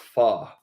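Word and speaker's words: pho: wins fox or Ramen I heard Fox is pronounced fa yeah so I don't I say foe I don't know if it's because the restaurant's called fox or F but yeah f is the other of saying it f i feel like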